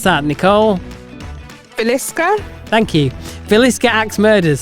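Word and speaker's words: Villisca: How do you pronounce that? Nicole Velisa.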